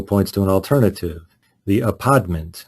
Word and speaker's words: apodment: The article points to an alternative, the apodment, and that's not me affecting a Brooklyn accent. That's me trying to pronounce the word spelled A-P-O-D-M-E-N-T, which refers to the